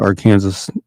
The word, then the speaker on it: Arkansas: to be and yes in Kansas we call it our Kansas instead of Arkansas so it is our Kansas our Kansas City in Kansas y they